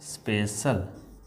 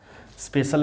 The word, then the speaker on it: special: सी के बाद यदि आई और ए आए तो इसका उच्चारण स होगा, इसका उच्चारण स होगा।